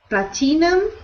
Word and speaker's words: platinum: sounds good great sound Platinum so we pronounce that word with no I sound we ignore the I we don't pronounce it we say Platinum Platinum